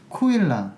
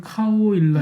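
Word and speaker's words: Caol Ila: 근데 저는 무슨 술 때문에 찾아봤냐면 코일라 예. 술 때문에 찾아봤는데 이 스펠링이 좀 다르거든요. 예. 영어 그냥 그걸로 읽으면은 카오일라 네. 이렇게 되죠. 하오일라. 근데 실제 발음은 그렇진 않죠. 코일라라고 하고 코일라.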